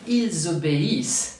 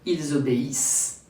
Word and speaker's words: ils obéissent: Why ils obéissent, they obey, ends with the S sound? Because as for the first group verb, French never pronounce the final ENT. So here, I drop the ENT and ends with the previous sounds. Here, the S as in snake.